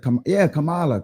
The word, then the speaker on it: Kamala: Kamala. And y'all still in 2025, y'all still intend on mispronouncing her name, and we've heard it a